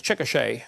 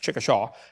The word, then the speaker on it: Chickasha: 2005 textbook, and I pronounced it wrong as Chickasha, not Chickashaw, Chickasha, Oklahoma. I got corrected during the break.